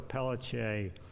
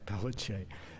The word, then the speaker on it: Pelletier: Deborah Pelletier, that's how we pronounce it in Louisiana, Pelletier, was this woman who was married to this Ben Thomas fellow.